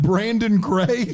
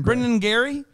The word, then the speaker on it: Brandon Craig: people's names wrong i don't people pronounce my name wrong all the time brandon craig yeah what do they say i don't know brendan brendan brennan gary brennan gary all the time ma'am that's a